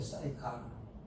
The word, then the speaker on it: Sychar: 수가가 아니고 우리가 수가라고 하지만 사이카라고 해야 된다.